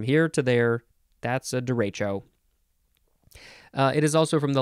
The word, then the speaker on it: derecho: I'm having a derealization next de Rachel d e r e c h o noun from 1889 it is a large fast-moving